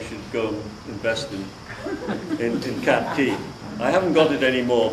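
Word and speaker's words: Cat Cay: Is that the same as Cat Key or pronounced Cat A? No, Cat Key is the island south of, Bimini chain.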